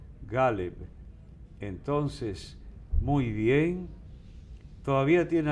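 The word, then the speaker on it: Ghaleb: Se debe decir Galeb Bader. Galeb Bader. Así es que él se llama. Okay. Porque yo le pregunté, ahí en la prensa están poniendo que Galeb Abdallah Musa Bader. Entonces, ¿qué dijo? Entonces él dijo Galeb Bader. Y ya. Aquí pronunciamos agudo el primer nombre y no, es llano, Galeb.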